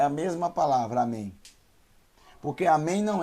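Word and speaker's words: אמן: e o número nem amém amém então é a mas nem mas é mas é nenhum amém amém não é com m no final é com n amém porque quem todo o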